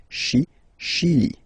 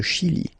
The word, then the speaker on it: Chili: Okay, remember, CH, sh. Okay, Chili. Le Chili.